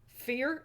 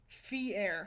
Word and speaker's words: Fier: Fear? Is it pronounced fear? Wait, that's blood? No, no, Messiah. It's just ketchup. Fier. Fier. Okay, alright. Oh, how fancy. Kind of like Pierre.